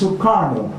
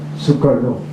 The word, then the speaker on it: Sukarno: When it is anglicized, it is Sukarno. When it is given its perfect pronunciation, it is Sukarno. Its derivation, its genesis, its origin is definitely Sanskrit.